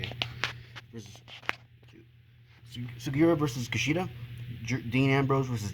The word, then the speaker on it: Takeshi Sugiura: Takeshi Sugiura, that's how you say it. Sugiura versus Kushida.